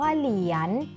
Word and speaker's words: เหรียญ: เหรียญ เหรียญ อ่าน ว่า เหรียญ เด็ก ลอง สังเกตุ นะ คะ คำ ว่า เหรียญ มี พยัญชนะ อะไร เป็น ตัว สะกด คะ ใช่ แล้ว ค่ะ